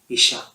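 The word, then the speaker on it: אישה: 하와 이전에 아내라는 단어는 히브리어로 이샤라고 발음을 합니다. 이샤.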